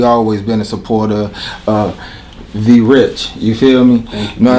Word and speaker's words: Vie Riche: I mean, the real pronunciation is Vie Riche, which is French. But you know, we from New York. We don't got that accent, so it's Vie Riche.